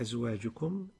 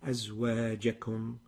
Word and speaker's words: أزواجكم: You pronounce it أزواجكم. The الجيم مفتوحة. أزواجكم is the right way.